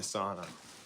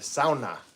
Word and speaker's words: sauna: gonna get in the sauna, or the sauna, as my Finnish neighbor calls it, because that's what it's called.